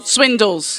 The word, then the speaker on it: Swindells: what pisses me off is when people don't pronounce is it swindolles just Swindle swindles which has been getting a lot of stick